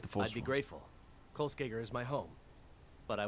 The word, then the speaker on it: Kolskegger: You're not saying it right, dude. It's Kolskegger.